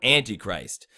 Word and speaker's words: Antichrist: the sentence so Antichrist so Antichrist when you say it like Northland or Emily there's a stress on the ant and there's a stress on the I so this ant and